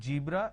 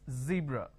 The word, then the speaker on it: zebra: It's not zebra, it's zebra. It's not John, it is zone. It's not Jeel, it is zeal. It's a z sound.